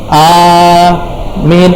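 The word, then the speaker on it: آمين: Tapi kalau antum baca amin, A-nya panjang, Mi-nya panjang, baru itu dia yang artinya dengarkan doa kami.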